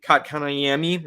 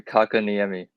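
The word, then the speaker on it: Kotkaniemi: with um just barry kat kanayami i know i butchered that last name eric you can help me out with that say his name jaspery kakaniyami there you go him he got an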